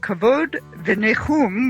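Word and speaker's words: Kavod v'Nichum: David zinner the founder and executive director of kavod the negum which means honor and comfort welcome David yes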